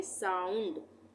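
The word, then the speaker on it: sound: फाउंड उसी तरह से एस ओ यू एन डी यहां पर भी ओ य एक साथ आ रहा है तो इसको हम क्या पढ़ेंगे साउंड आ और उ दोनों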